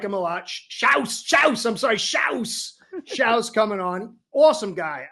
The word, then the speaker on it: Shouse: You got Bobby Shouse. I just learned how to say his name. He's German, so I like him a lot. Shouse.